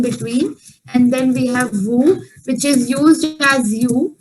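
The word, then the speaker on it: vous: happening with vu also even though it's ending with the letter s but since it's the last letter so we won't be pronouncing it so it is this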